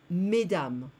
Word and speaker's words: mesdames: Madame, mesdames, so I don't hear the S anywhere.